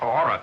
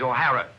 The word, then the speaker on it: O'Hara: do you remember saying my name is not aura it is o'hara here mr o'hara yes